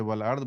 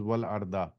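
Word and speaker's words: والأرض: But because it is stopping, that's why you say wal ard. But the real way to pronounce it is wal arda.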